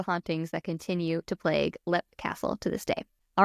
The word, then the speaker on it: Leap Castle: What's so funny is I'm I I'm like I'm reading my notes and I'm reading this narrative and it's spelled leap and like just a with your brain.